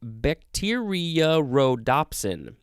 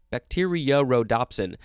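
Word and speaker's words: bacteriorhodopsin: a weird word um bacteria rhodopsin bacteria rhodopsin there's a kind of a double o sound in there it is spelled b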